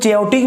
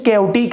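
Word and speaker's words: chaotic: इसको कुछ लोग चैओटिक भी पढ़ लेते हैं लेकिन इसकी प्रोनाउंसिएशन कैओटिक है। तो this is also called कैओटिक flow. CH को कैओटिक फ्लो कहेंगे हम, चैओटिक नहीं इसको पढ़ना।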